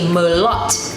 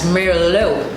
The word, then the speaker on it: Merlot: For example, the word Merlot, we tend to say Merlot because it's spelled M-E-R-L-O-T. But in French, what they do is they take away the T and it's pronounced as Merlot or Merlot, as in English we would pronounce it.